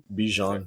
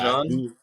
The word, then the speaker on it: Bijan: Bijan.